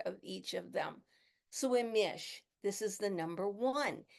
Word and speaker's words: Imix: And it is called Imish, but you pronounce it Imix, and then Imish is how you actually say it.